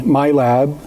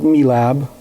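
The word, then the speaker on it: MILAB: me, it started at the age of 6 years old when I was brought into what is known as the MyLab, some pronounce it MeLab programs.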